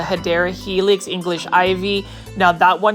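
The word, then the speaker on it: Hedera helix: they almost remind me of a hedra helix or the correct way to say it is a hadera helix English ivy now that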